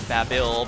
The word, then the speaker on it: Babil: in the cut scenes they pronounced it babil but I'm pretty sure it's supposed to be a Tower of Babel reference then again I guess